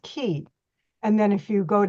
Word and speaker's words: Ki: of Qi is Chinese if you see Ki that's Japanese and it's and it's pronounced key and then if you